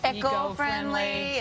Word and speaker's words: eco-friendly: Again, like the hot areas, like anything that's eco-friendly, and it's going to save your baby's life. I like how you say it and I say it. Again, Jersey, yeah, Virginia. Eco-friendly, that hard C.